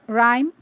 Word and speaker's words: rhyme: are plenty more words the silent h is to be found in words like rhyme rhythm rhetoric rhododendron rheumatism